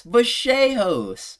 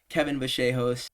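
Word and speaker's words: Vallejos: No, it's Bashos. So out of respect for him, I will pronounce his name properly. Kevin Bashos.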